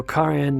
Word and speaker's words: Karen: So Karen Minasyan, and by the way, that's the way you pronounce it. It's not Karen, but Karen. There is no Karen in Armenian, so it's only Karen. It's a man's name, Karen.